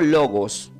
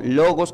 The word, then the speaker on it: logos: la palabra viva significa se pronuncia como logos con acento en la o logos que es igual a